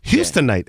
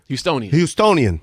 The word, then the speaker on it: Houstonian: Yeah, but at that time, for sure, you were Houstonite. Is that how they say it? H-Tonian? Houstonian. Bostonian, Houstonian. It's a lot of commonalities.